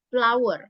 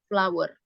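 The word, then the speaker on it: flour: is a b of flower ya tepung ini cara bacanya sama kayak bunga flower Coba diulang there is a bag of flower ya number two there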